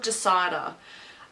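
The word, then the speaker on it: DISIDA: next day she was having a scan called Decider. It's, for anyone that's interested, it's spelled D-I-S-I-D-A.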